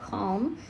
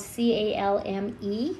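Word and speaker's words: Calme: These are the Pentel Calm, but it's spelled C-A-L-M-E, and I think it's Calm, right?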